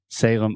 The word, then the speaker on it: Salem: with the pronunciation so this is Salem s-a-l-e-m and remember whenever you have a word that ends with the letter M in English we're going to close our mouth completely because your natural tendency